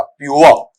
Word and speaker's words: pure: इसका उच्चारण ऐसा पढ़ा जाएगा, प्योर। ठीक है, क्या पढ़ेंगे इसे आपका प्योर। अब जैसे स्थानीय क्षेत्र में अपने बुजुर्ग लोग हैं वो कहते हैं कि हाँ भाई ये पीवर बोलते हैं ना, अरे भैया मान